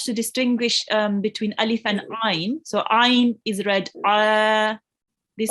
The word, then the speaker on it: ع: It's basically pronounced from the middle of your throat. Okay, so you have to distinguish between Alif and Ain.